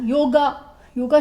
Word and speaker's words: योग: या आजकल आप ही देख लीजिए ना, योगा शब्द नहीं, हर आदमी योगा कहता है जबकि योग है शब्द, लेकिन सब योगा कह रहे हैं। क्यों? क्योंकि अंग्रेजी का प्रोनाउंसिएशन हम उसके अंदर हिंदी में करते चले जा रहे हैं।